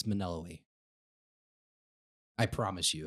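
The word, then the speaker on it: Melinoë: Even though I remember Maneloe is how it's pronounced. Maneloe. And yes. The N before the L? Yeah, it's Maneloe. I promise you it's Maneloe.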